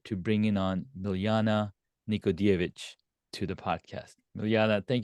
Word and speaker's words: Nikodijević: but you said J what you call Jay in Serbian is pronounced y ah it's like yeich yeich okay Nana nicod evich yes you have Tong Fitness